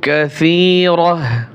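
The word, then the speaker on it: كثيرة: ওয়ামা ইম মাসকুব ওয়া ফাকিহাতিন কাসীরাহ ওয়া ফাকিহাতিন তিন এখানে এক ফাগুণ্য হবে কাসীরাহ, এই যে গোলতা রয়েছে এখানে গোলতা ওয়াকফের সময় হা হয়, গোলতা ওয়াকফের সময় হা উচ্চারণ হয়। ওয়া ফাকিহাতিন কাসীরাহ লা মাকতুআতিন,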